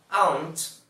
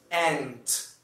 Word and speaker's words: aunt: de duas maneiras, basicamente, que são aunt, aunt, ou aunt. Só que esse aunt que eu estou falando, ele é pronunciado geralmente nos Estados Unidos, e a sonoridade é praticamente idêntica a ant, formiga. Então, eu particularmente prefiro pronunciar aunt, que para mim é um pouquinho diferente de ant.